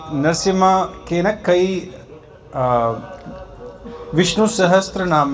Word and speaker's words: नरसिंह: यहां सिंगल कहते हैं सिंह नहीं होता सिम है जो प्रनंसीएशन है जो उच्चारण है नरसिम हां ठीक है जो